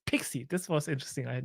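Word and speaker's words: PKCE: great first of all that pkc is pronounced pixie this was interesting I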